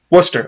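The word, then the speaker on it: Wooster: W okay it's wo o st ER o Worcester Worcester okay you do say it right yeah yes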